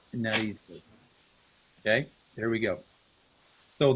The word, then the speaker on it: narices: That's a little trickier because it already has that S sound at the end of it, but it's las narices.